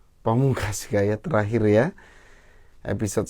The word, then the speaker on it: Pamungkas: ke Pak Pamungkas namanya Pamungkas dan ini bacanya Pamungkas gaya terakhir ya episode